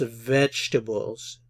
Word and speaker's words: vegetables: Vegetables. Noten que aquí la vocal E no se pronuncia.